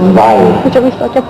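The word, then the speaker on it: Viy: The Russians may pronounce it Vile, but we like the sound of the Viz better.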